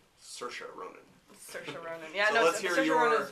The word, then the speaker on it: Saoirse: So that's I'll butcher her name, Saoirse Ronan. Saoirse. Yeah, she pronounces it wrong. And talks about how she pronounces her own name wrong. She says it's Saoirse like inertia, so I never forget it.